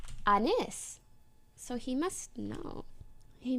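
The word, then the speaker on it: Anys: okay but but I told him oh it's pronounced Anis so he must no he must know so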